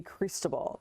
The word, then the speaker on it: Cristobal: But again, next name on the list would be Cristobal. And yes, that is how you pronounce it.